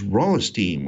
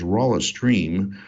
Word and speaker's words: Rolisteam: talk about which is raw esteem which I've been occasionally mispronouncing is raw a stream just because it sort of seems like it needs an hour in there somewhere but what is raw